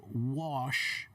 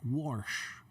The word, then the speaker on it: wash: who say the word wash I want to wash my hands they pronounce it like warsh warsh almost like there's an r in the word okay and if you're